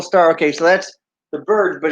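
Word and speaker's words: Byrds: Okay, so that's the Birds, but it's spelled B-Y-R-D-S.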